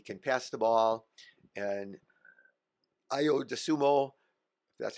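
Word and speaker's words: Ayo Dosunmu: 66 and he can pass the ball and IO dumo that's how you say his name he he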